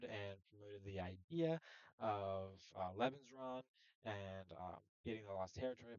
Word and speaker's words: Lebensraum: Lebensraum, I believe is how it's pronounced, is the term for like living space.